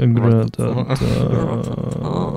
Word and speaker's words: Rattata: How do you pronounce it? Ratata. I don't like that you're like moan mumbling when you say it. Ratata.